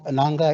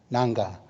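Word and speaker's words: Ngarrngga: I'll spell the name for you nanga it's pronounced nanga is n g a r r n g g a nanga so you can look at the website when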